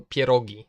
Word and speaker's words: pierogi: what do you say you know you know pierogi that's how you pronounce that but I I really like how